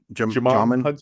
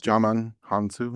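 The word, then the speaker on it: Djimon Hounsou: So when I think his name's you pronounce it Dimon J Hunsu, j yeah, Jamon Hunsu. Jaman Hansu, yeah.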